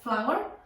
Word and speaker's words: flour: Flour. Flour no son flores, es harina, pero se pronuncia igual, flour, ¿ok?